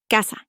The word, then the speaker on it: casa: If a word ends in a vowel, n, or s, the stress is on the second to last syllable, casa, casa.